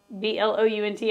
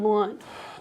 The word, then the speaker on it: Blount: have blunt and how's it spelled Blount b l o u n t I'm like that is Blount that is not blunt uh booby miles according